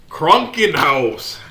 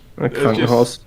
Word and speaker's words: Krankenhaus: No, it's Krunken house. I mean, if you pronounce it stupid, of course it's going to sound stupid. But if it comes up in regular conversation, Krunken house. Krankenhaus.